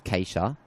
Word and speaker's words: Katia: It is spelled K A T I A K C Katia, but I have been told it's Kaca.